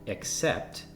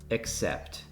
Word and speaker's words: except: The words accept and accept have slightly different pronunciations and very different meanings. Can you hear a difference when I say the words concurrently from left to right? Accept, accept. It's a subtle difference, but it's there.